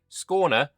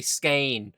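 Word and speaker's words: Skåne: say this word and they say scain or scan. Yeah, scorner. Scorner. Yeah. This this a with a circle above it. See, I'm good at this. Anyway, scorner was bought from the impoverished Danes just a few years ago.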